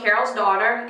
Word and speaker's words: Carol's Daughter: Here's the product again, and it's pronounced Pracaxi. And again, this is from Carol's Daughter, and this is the Curl Twisting Custard Pracaxi Nectar.